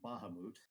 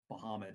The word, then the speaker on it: Bahamut: The only dragon deities I know of note are Tiamat and Bahamut. But Is that how that's the pronounced? latter, I've heard it said a couple of ways. Bahamut and Bahamut.